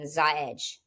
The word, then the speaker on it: Xahej: complicated the name by starting it with the letter X and having a unique pronunciation, Xahej.